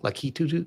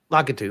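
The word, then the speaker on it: Lakitu: but that Lucky Lucky I always say his name wrong. Luckyu the guy in the cloud with the Latu. Lockatu.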